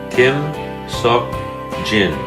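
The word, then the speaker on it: 김석진: number four okay Paul gin King Saul Jim Kim Seok Jin Kim Seok Jin Kim Suk Jin the first syllable is Kim and the first letter in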